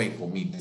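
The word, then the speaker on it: Echometer: Ahí te está diciendo cómo funciona el aparato ese que llama echomíter o ecomíter. Se escribe echomíter, pero sé que se pronuncia ecomíter.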